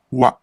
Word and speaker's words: は: This is the ha syllable, but since it is a particle, it is read as wa, and it is the topic marker of the sentence.